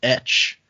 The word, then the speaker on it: Etsch: First email is from, I'm going to say this is pronounced Etch. It's ETSCH. And Etch says, hey guys, love the podcast.